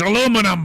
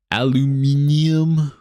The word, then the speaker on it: aluminum: more British than that it's aluminum guys you got to not be subpar intellectually like you you got to be smart like come on like bro aluminium really bro what a stupid pronunciation of course they always